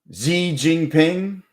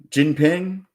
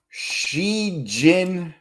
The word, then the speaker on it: Xi Jinping: Z Jingping. Jinping. Yeah. How do you pronounce? Here you go. Yeah. You only have 10 days. Yeah. Hell yeah. So, it's she Xi Jinping.